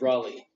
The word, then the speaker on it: Raleigh: Name's Raleigh. Raleigh. Raleigh? No. Raleigh. How do you spell that?